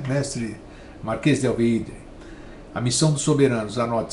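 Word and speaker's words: Alveydre: Alveídre se escreve com Y, Alveídre, né? Mestre marquês de Alveídre.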